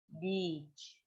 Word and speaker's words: beach: Beach di situ i-nya panjang, 2 harokat, matobi, beach. Jangan dipendekin. Kalau dipendekin, I will go to the beach. Kalau dipendekin artinya, kalau i-nya dipendekin artinya beda.